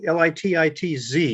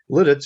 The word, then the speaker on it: Lititz: of litus pennsylvania um lit it's uh early l-i-t-i-t-z you see the spelling there early spelling was